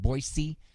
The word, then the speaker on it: Boise: i am in boise notice how i pronounce that boise makes me sound pretty cool like a local because boise is how everybody else outside of boise pronounces it and interestingly enough i